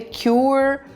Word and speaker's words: cure: E ela pronuncia a palavra cure de uma maneira super correta. Esse U, e o U em inglês é muito difícil da gente pronunciar, porque a gente tem a vontade de fazer U, né? E na hora que você usa a palavra cure, ela tem um som diferente, ela tem um som de U, né, de Y quase.